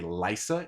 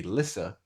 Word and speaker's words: Lysa: It said Eerie in the show, but they also say Lysa in the show, and I'm very confident that it is meant to be Lissa in the books because Catelyn is another weak Y, and the name of Lissa exists.